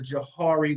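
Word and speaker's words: Johari: i want you to understand something called the jahari window i'm not going to go into it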